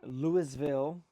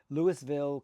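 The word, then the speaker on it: Louisville: And this was a cloverleaf event beginning in Lewisville. Make sure you pronounce the S. They do that there locally. Lewisville, Colorado.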